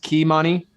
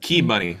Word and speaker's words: Kimani: I believe it's pronounced Kimani. It's was, pronounced. Key money.